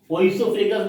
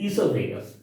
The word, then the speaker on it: esophagus: ओइसोफेगस नहीं बोलेंगे, ओ is silent, esophagus।